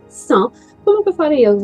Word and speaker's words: cent: pronunciação, estou lembrando que o número 100, você não pronuncia a letra T, né? 100.